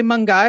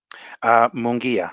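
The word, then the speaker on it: Munguía: Is it really Mungai or Mungia? I turn now to our Mexican analyst. Mungai or Mungia? Mungia.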